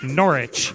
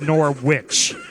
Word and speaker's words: Norwich: she said it wrong it's Norwich not Norwich yeah it's not a North sandwich it's an or inch Norwich remember to gamble